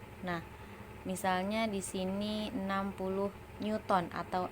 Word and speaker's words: Newton: Nah, misalnya di sini 60 Newton atau N. Tulisannya Newton, tapi bacanya Newton.